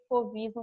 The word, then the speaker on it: fauvismo: Fauvismo, a gente pronuncia fauvismo mesmo, porque vem da palavra fauves em francês, que significa feras.